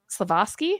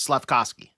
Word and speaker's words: Slavkovsky: Slavosky? Is that how we say it? It's Slavkovsky. Slavkovsky. That was close enough.